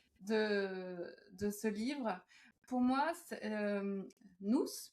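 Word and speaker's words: Nôus: Pour moi, nous, puisqu'on dit, on dit nous, Oui. euh, donc ça s'écrit N-O-U accent circonflexe S.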